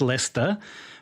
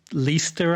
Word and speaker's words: Leicester: so he knows it he can pronounce lester but then for some reason when he sings it he says lister i guess and it sounds like easter i'm just not quite sure